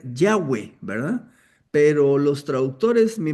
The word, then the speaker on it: Yahweh: explicación, eh la palabra, la mejor manera de pronunciarla debería ser Yahweh, ¿verdad?